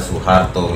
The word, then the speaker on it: Soeharto: Misalnya seperti Soeharto itu dibaca Soeharto ya.